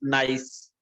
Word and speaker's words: gneiss: The fourth metamorphic rock is gneiss. It is gneiss. G is silent.